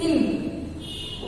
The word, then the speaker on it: hymn: See, the word Hymn is hymn. We read it as hymn. We pronounce it as hymn. We don't read or pronounce as hymn. No, it is hymn.